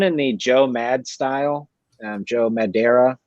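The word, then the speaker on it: Joe Madureira: Joe Madeira, I believe is how you pronounce that name.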